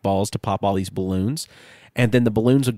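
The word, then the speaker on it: Bloons: iterations of, was called Balloons. Say that one more time. Balloons? Balloons, yeah. They were balloons, B-A, but it's spelled balloons, B-L-O-O-N-S.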